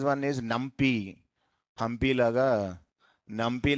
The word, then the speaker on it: NumPy: NumPy like that they are pronouncing, but exact pronunciation is NumPy only.